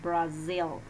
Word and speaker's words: Brazil: Miss, pero Brasil se escribe con S, ¿no? Yeah, that is in Spanish, but in English it's Brazil, ¿no? Entonces, miren por ahí, ¿no? Those details, and that is the pronunciation, Brazil, okay?